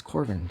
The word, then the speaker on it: Korven: you like this review do i say corn it's corvin jesus christ adam you